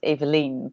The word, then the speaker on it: Evelien: really good job actually in dutch we would pronounce it as eveline but a lot of people yeah evelyn don is so it's